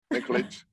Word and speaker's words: Nikolic: I am your host, and I'm very pleased to welcome my next guest, Nikolic. Did I say it right? Yeah, right. That's correct. Nikolic.